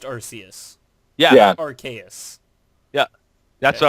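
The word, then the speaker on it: Arceus: question where is which is the first Pokemon arus is it archus Mew Bulbasaur or Ryon it's arus is it y it's arus okay no I mean it's pronounced arus yeah arus yeah that's what I was referring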